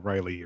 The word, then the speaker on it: Raleigh: he pronounces it Raleigh, like North Carolina.